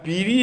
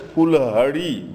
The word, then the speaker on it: Piri: And Piri has been mispronounced as Fulhari by Tibetans.